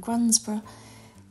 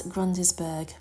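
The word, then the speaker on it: Grundisburgh: And now at Suffolk we have some odd names, and Grunsborough looks like it's Grundisburg, but it's pronounced Grunsborough.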